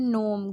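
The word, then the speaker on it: gnome: इस तर गार्डन नोम गार्डन नोम गनोम नहीं है जी साइलेंट है इसमें ठीक है गार्डन नोम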